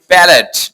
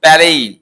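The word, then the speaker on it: ballet: তারপর হচ্ছে আমরা বলি ব্যালেট, নট ব্যালেট, এটা হচ্ছে ব্যালেই, আর টি সাইলেন্ট থাকবে।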